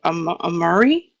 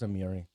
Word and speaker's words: Amiri: And he did also a wonderful job with uh Amari. Is that how would you say her name? Her name was Amiri.